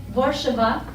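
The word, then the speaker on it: Warszawa: is warsaw so that's actually not the correct pronunciation my husband would be like it's borshaba which is very hard to say so warsaw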